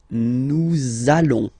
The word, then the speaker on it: nous allons: it does mean that you will have to pronounce this z sound. Okay, listen to me. Nous allons.